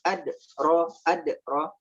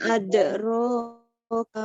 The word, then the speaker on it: أدراك: Wama bukan adro, tidak salah, cuman itu adalah kurang pas ya. Dia ada qalqalahnya, melainkan ada qalqalah, cara baca qalqalah ya. Wama adraka ma yaumuddin.